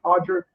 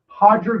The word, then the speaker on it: Roger: It's spelled Roger pronounced Hodger like Royce Gracie is like with the R should be Royce. Hodger Gracie.